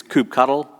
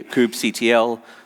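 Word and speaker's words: kubectl: people say coops ETL some people say scoop control I don't really care how you pronounce it some people like to get into a long argument over the front iation so I'll say coop cuddle that you say it however you like and like docker there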